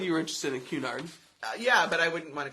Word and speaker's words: Cunard: us and so there's an awesome company called cunyard Cunard I always mispronounce it Cunard and people do this regularly